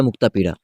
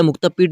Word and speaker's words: मुक्तापीड: इनके आगे 3 बेटे होते हैं, चंद्रपीड़ा, तारापीड़ा और ललित आदित्य मुक्तापीड़ा। ललित आदित्य मुक्तापीठ भी कई लोग प्रोनाउंस करते हैं, तो आपकी मर्जी, आपको जैसे अच्छा लगे आप वैसे इसको प्रोनाउंस कर सकते हैं।